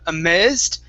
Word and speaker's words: amazed: So give me a long A sound, that second A. So it's instead of amazed, it's amazed. Amazed.